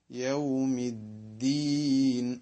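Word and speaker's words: يوم الدين: ഉച്ചാരണത്തിൽ വരുന്നില്ല അതുകൊണ്ടുതന്നെ യൗമി യൗമ യമിൻ ഈ വ്യക്തമായ ഉച്ചാരണം നമ്മൾ പരിശീലിച്ചെടുക്കണം യൗമിദീൻ മൂന്നാമത്തെ പദം അദീൻ എന്നതാണ് അദീൻ എന്നിടത്ത് ശ്രദ്ധിക്കാനുള്ള ഒരു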